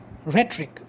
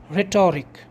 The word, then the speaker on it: rhetoric: figures of speech or rhetoric first of all i should mention that the pronunciation is rhetoric not rhetoric this is not rhetoric this is rhetoric just as you pronounce history not his story it is rhetoric not